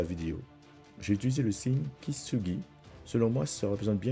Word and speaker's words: Kintsugi: Le Kintsugi, prononcé approximativement Kintsugi, est un art japonais utilisé pour réparer les objets en céramique cassés, comme des bols, des tasses ou des vases.